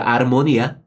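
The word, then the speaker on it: armonía: 아르모니아. 우리가 영어의 하모니 말하는 거예요. 스페인은 H자를 묵음이라 발음을 안 하거든요.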